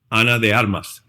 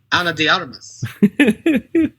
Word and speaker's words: Ana de Armas: How did your people pronounce it again? Ana de Armas. Ana de Armas.